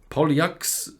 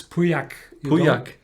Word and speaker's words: Pauillac: special red wine finish it's a polyaxe uh pollyak bordox finnish no that's that's french and how you pronounce it the right way uh that's bordeaux you don't spell the ass yeah sure then it's priyak you you don't spell the ls they don't spell elves okay no no no